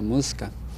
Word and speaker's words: Muisca: nosotros somos música y así se pronuncia música con una sexta vocal que no está en el español que es la vocal ellos entendieron moscas y